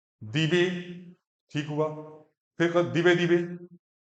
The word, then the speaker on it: दिवे: हाँ, मश्नवत्, रयि मश्नवत्, पोषमेव दिवे, दिवे, दिवे, दिवे भी फटा नहीं करना, दिवे, दिवे, दिवे, दिवे। ये अंतर महसूस करना है बोलने में ना, कि तो है क्या क्या गलत हो, दीवे, ये भी गलत है।